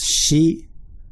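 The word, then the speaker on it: 四: So I'll write the hiragana 1, 2, 3, 4, which can also be pronounced shi, 4, shi, 4 or shi.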